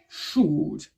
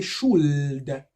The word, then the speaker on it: should: Be very careful with the pronunciation of this modal verb. It is not should. No, the L is silent. We don't pronounce the L. So we don't say should. No, but we say should.